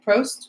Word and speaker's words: Prost: Prost? Prost.